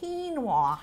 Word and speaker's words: quinoa: with a q q i n o a quinoa is how it's pronounced it is on the top of this